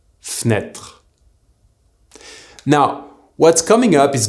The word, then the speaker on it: fenêtre: Well, remember also that the mute sound E in the middle of a word will usually disappear when we speak. This is why the word fenêtre is pronounced fenêtre.